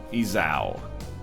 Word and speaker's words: Esau: How to pronounce Esau.